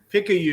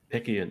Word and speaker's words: Picayune: I'm having a really, really bad night with pronunciation. But you're Picayune. very welcome. Picayune. Oh, okay. Picayune.